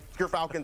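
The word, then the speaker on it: Gyrfalcons: But Gerfalcons, everyone, so anyone who mispronounces it, that's how you say it.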